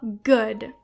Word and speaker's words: good: Es muy cortito y no tiene una forma de la boca muy específico, solo como un poco de aire escapando de los pulmones.